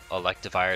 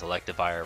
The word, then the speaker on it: Electivire: I want to say electivire is probably the most common thing for it but maybe I'm just crazy because electivire rhymes with Livewire I don't know I